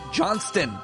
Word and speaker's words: Johnston: now with David K Johnston make sure you pronounce the T you could easily have